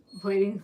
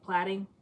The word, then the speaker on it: plaiting: Plating, say it like flat. Oh, plaiting. So flat. So it's not plating, it's plaiting. Say it like flat.